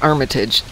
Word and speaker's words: Armitage: Okay, so the Armitage in Chicago is pronounced Armitage.